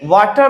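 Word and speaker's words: water: match वाटर बोलते समय वाटर में आर का प्रनंसीएशन नहीं आना चाहिए आपको साइलेंट रखना है क्योंकि आज से पहले वावेल है इसलिए आर को नहीं बोलना है हो मैच वाटर दिल्ली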